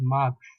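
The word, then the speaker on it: mars: make it come to notice it is not mark it is marks okay first one do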